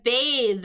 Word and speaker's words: bathe: Uh, and notice the pronunciation there. So, we got like that th it is a voiced th b voiced th as opposed to the noun the bath tub or we might say to take a bath. the unvoiced th.